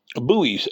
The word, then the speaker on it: Bowie: of Jim buoys on a a a Bo buoy knife video and asked her I said how do you pronounce it is it Bo e or buo